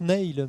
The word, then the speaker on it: Neil: oui, alors ça se prononce Neil. Ça se présente mais Neil. c'est Neil parce que en fait, c'est un prénom qui est à la fois gaélique et arabe. Ouais. Et donc nous, on le prononce à l'arabe, donc on dit Neil.